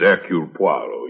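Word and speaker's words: Hercule Poirot: neighbor if I may be permitted the one slight correction my name is Aur poo your Good Sister proceeds on the familiar English assumption that we are not English do not know how to pronounce our own silly names he's just making fun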